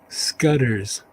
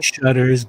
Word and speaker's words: Scudder: Scudder's. Okay. It could be Shudders, but it's Laura Scudder's. But the trick is, I